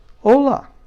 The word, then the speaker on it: hola: say hi in Spanish hola hola let's all practice hola Coca-Cola oh no not the Coca-Cola that's just to help you remember how to say it hola okay that means